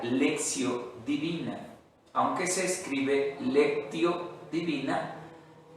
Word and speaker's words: lectio: decir está en latín así se escribe lección se pronuncia lección divina aunque se escribe lectio